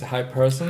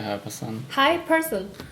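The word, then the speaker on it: Hiperson: I would I would also say hyper sun. Hyperson but you would also hyper like sun like a sun but put it here like here hyperson.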